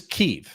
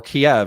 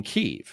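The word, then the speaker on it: Kyiv: it actually got okay there is this is ke or Kev as I used to pronounce it this is the the capital of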